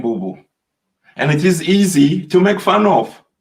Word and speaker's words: Bubu: It is spelled B-U-B-U, which is mean the globe, and at the same time it mean also it could mean the earth or the ground.